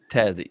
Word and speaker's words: Tassie: We like to shorten everything. We don't like to say more than 2 syllables if at all possible. So if we can take something longer and make it shorter, we will do it. And if it's too short, we'll add a second syllable sometimes. So if your name is Dave, you'll become Davo. That's just what happens. 2 syllables. You got to go for the 2 syllables.